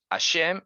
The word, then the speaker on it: Hashem: vas a decir Hashem, alguno dirá, es que la H no se pronuncia. Claro que se pronuncia, ¿cómo que no?